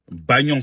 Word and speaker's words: Bagnon: Bagnon, ça s'écrit Bo-A-Ba.